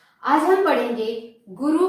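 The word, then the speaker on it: गुरुः: यहाँ पर गुरु शब्द में जो रू है वो छोटा है, ठीक है, और विसर्ग लगा है तो इसको बोलेंगे गुरु।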